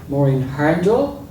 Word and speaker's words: Mairin Hurndall: Mairin Hurndall, I have discovered is the way to pronounce her name, which is of Norwegian extraction, is deeply steeped in East Belfast trade union, small U unionism culture.